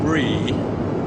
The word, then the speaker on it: Bree: The little girl is called Bree, and I'm assured that that's how it's pronounced.